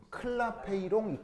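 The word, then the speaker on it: Clapeyron: 이식 이름 클라페이스 클라페이롱 이에이션. 알겠죠? 아마 프랑스 사람 같아요. 발음이 좀 묘한 거 보면 클라페이롱이라고 이퀘이션이라고 하는데 이제 이거를 여기 아까 그려 놓은이 이런 그래프를 이름을 뭐라 그랬어요?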